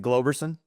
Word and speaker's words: Globerson: And, is it Globerson? Yes. Yep. Okay, Always I'm like, mispronounced. You got it right on the first one, sir. yes. Yeah. Kudos to me. Yeah. Globerson from DFG Illustrations.